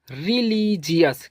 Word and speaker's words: religious: और OUS को पढ़ेंगे अस। तो ये हो जाएगा रिलीजियस।